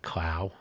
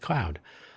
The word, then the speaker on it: Claude: Some people pronounce that Clow. Some people pronounce it Cloud, C-L-A-U-D.